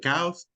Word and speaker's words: chaos: fact, his daughter, and chaos erupts in the family. House is the Spanish pronunciation. In English, we say chaos.